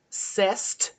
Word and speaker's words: c'est: C'est une chanson. Okay, so first rule is you don't pronounce the T. When it's not an E after. Okay. So it's c'est.